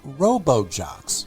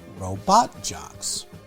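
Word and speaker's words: RoboJox: No, I didn't say it wrong. The original title was Robo-Jocks, not Robot Jocks.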